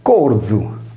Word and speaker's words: corium: Prendiamo ora in considerazione il nesso R più I più vocale, che è più stabile, con l'esempio latino di corium, uoio, che deve essere letto corzu, come in sardo.